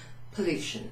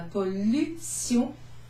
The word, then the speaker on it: pollution: La pollution, pollution. So it looks exactly the same as the English. You pronounce this sion. La pollution.